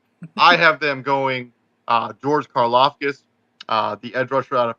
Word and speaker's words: Karlaftis: So the Packers get George Karlaftis as the guy. I don't think I pronounced the last name. No, you did. It's Karlaftis.